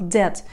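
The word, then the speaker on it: debt: ждет во первых запомните что слово долг дед а произносится без звука бы в нем хотя буквам битом есть тюдоры означает буквально зарыть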